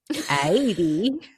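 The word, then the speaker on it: Haydée: I would have much preferred that he ended up with Mercedes than 80, which is how they pronounced it.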